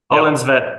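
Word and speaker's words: Ölandsvete: Is that how you say it? Oland's Vet? Oland's Vet, yes.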